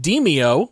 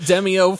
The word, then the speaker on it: Demeo: be talking about a game that is apparently pronounced Demeo, which I learned today. I'm not calling it Demeo, by the way. So we have been calling it Demeo for literally months.